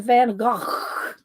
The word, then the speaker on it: Van Gogh: is astronaut barrel and Van Gogh that's what I call it doesn't say Van Gogh but you know you have that Dutch um gutter old thing when you say his name so astronaut barrel and